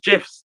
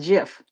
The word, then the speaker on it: GIF: in Webster's dictionary, it's pronounced GIF. GIF. Yeah. Okay. With a J? You hear? I don't know. Wait a minute. Hold me pull this up. GIF. Oh, wow. Do you know what? I Okay. don't know. I don't know. That- We lose. We lose. That's So- why some people say Apparently, GIF. the Oxford English Dictionary allows both pronunciations.